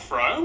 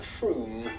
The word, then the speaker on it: Frome: Ha, ha, ha, ha, ha, ha, wrong, it's not Frome. F-R-O-M-E, it should be blitheringly obvious, is pronounced Froome.